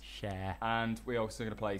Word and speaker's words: Cher: i keep doing that this is believed by sure and that was sure with belief that i pronounced it right this time share share share anyway believe by cher nailed it and seven days by craig david